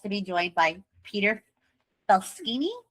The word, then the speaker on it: Faleskini: And today, I am so blessed to be joined by Peter Faleskini. Is that how you say it? Almost Faleskini.